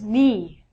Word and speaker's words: knee: But when you say it, take the silent letter out. Next one is knee.